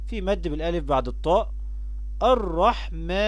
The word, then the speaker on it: الرحمن: الرحمن، يبقى فيها حرف الألف ينطق ولا يكتب في هذه الكلمات.